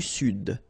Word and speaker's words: Sud: L'Amérique du Sud. Here you should pronounce the D.